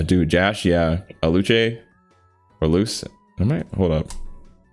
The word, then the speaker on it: Luce: Okay, it's Luce, which makes sense. It's like Lucifer, so it's Luce.